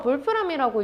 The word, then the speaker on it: Wolfram: 이게 독일어라서 볼프람이라고 읽는데 울프 늑대가 들어 있죠.이 이 이름이 괜히 붙은게 아닙니다.